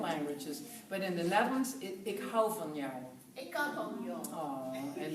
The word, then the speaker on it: ik hou van jou: I can say it in different languages, but in the Netherlands, ik hou van jou.